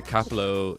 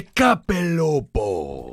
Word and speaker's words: Capelobo: And I say, the Capelo is my boyfriend. What's that mean? You didn't even say it right. The Capelobo.